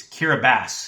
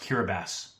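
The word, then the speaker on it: Kiribati: Kira, it's Kiraabass. It's it's pronounced kiraabass.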